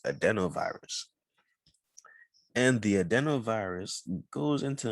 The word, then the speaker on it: adenovirus: okay so i'm back the proper pronunciation is adenovirus and the adenovirus goes